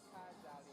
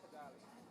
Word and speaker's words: Kigali: Kigali. Three syllables, Kigali.